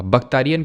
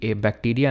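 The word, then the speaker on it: Bactrian: और यहाँ पर एक बख्तारियन किंगडम एमर्ज हुआ। बख्तारियन किसको बोलते हैं? तो एक्चुअल में ये वाले रीजन को बख्तारियन बोलते हैं। बख्तारियन, बैक्टीरिया नहीं पढ़ना उसको, ठीक है, बैक्टीरियन होगा ये, ठीक है।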